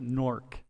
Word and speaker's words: Newark: I'm from Newark, Delaware. I'm majoring in econ, and yeah. Newark, Delaware, not Newark. My wife was born in Newark, New Jersey. Yeah, her family pronounce it Nork.